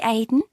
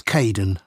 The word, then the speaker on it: Kaeden: Hi, Aidan. It's Caden.